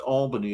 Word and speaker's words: Albany: He would know it's pronounced Albany if he'd actually been there.